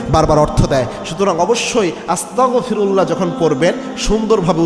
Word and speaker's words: আস্তাগফিরুল্লাহ: গয়িন যে উচ্চারণ, এটার উচ্চারণ হবে আপনার গ দিয়ে, ক খ গ, এই গ দিয়ে উচ্চারণ করতে হবে। অনেকে আস্তাগফিরুল্লাহ বলে, ক দিয়ে উচ্চারণ করে।